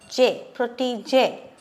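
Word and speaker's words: protégé: and how do you pronounce this word proti j this aksang grav is there so let's write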